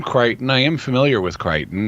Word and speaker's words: Crichton: And then another thing, his first name is spelled Chrischton, and he's Crichton Edward McGregor Miller.